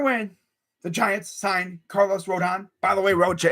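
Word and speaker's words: Rodón: there's a hector rondon this is rodon you know row your boat don i don't know why but here in rochester trying to say his name is so funny he says rendon rondon no there's no end between the ra and the don it's rodon there's no don't it's done row the boat don that's how you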